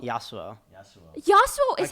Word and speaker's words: Yassuo: why ASSA I say Yasuo Yasuo he also is how you pronounce it without the s what are you gonna say yes yes you OH Yasuo like the champion bow with two S's